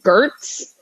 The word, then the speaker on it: Giertz: had just appropriated that my last name was pronounced gerts which is like yeah